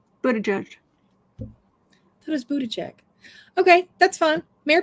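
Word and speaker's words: Buttigieg: sweet okay so at 41.50 um let me booty check did I say that right because you know my my pronunciations are horrible for everything booty judge but a judge so does Buddha check okay that's fine mayor P I'll be good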